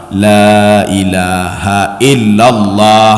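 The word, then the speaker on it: لا إله إلا الله: Lailahaillallah. Ya, Pak. Lanya harus panjang artinya la nafi lil jinsi itu, Pak. Tidak ada Tuhan selain Allah.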